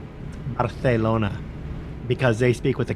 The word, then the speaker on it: Barcelona: an A S sound it would be more of a soft th sound Barcelona Barcelona okay Manuel see